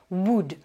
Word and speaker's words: would: modèle du conditionnel c'est boude alors là je précise au niveau prononciation c'est un mot sur lequel vous allez pas prononcé le elle vous retrouvez cette règle